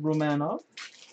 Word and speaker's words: Romanov: Actually pronounced Romanov.